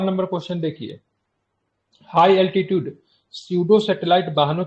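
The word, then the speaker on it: pseudo: है ये ठीक है सूडो सेटेलाइट की बात करेंगे ना सूडो है ना तो य पी से सूडो होता है ए साइलेंट है ठीक है पी साइलेंट है और ऊर्जा से चलने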